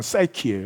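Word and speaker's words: Psyche: 프쉬케 라고 되어 있는데 그 단어 그대로 미국 발음은 싸이키 싸이키 영원 이란 뜻이에요 그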